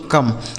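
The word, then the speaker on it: come: दोस्तों सी से हो गया क ओ का उच्चारण अ एम ई से म यह लिखा गया दोस्तों कम सी ओ एम ई कम ठीक है एन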